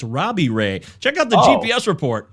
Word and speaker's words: Robbie Ray: r oh close uh it rhymes with gray it's robbie ray check out the gps